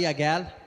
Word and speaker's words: Aguel: For those who don't know who I am, my name is Aguel, not Agul as Com says.